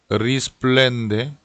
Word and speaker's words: risplende: Risplende. 요 어리스플렌데라고 하는 단어는 자칫 잘못하면 앞에 R 발음을 L로 발음을 할 수가 있어요. 이걸 꼭 굴려서 리스플렌데 이런 식으로 발음을 해주시면 좋겠고요.